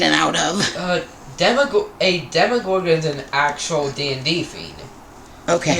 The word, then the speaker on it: Demogorgon: delay are you still wanting to do the demigorgon um is pronounced demogorgon even though it's demogorgon okay it's a thing